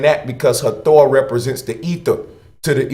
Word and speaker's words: Hathor: The H is silent, so it's Hathor or ether.